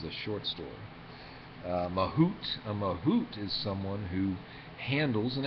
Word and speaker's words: mahout: A mahout is someone who handles an elephant, as it turns out.